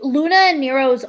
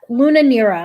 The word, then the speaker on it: Luna Nera: a new season um am i saying it right luna and nero hold on that's not the whole it's like you don't have luna nera i'm saying it wrong it's luna l-u-n-a nera n-e-r-a and it's on netflix